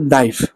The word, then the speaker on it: knife: এই যে যেরকম নাইফ, KNIFE, নাইফ, উচ্চারণ করি নাইফ, বাট এটা কে চলে আসে।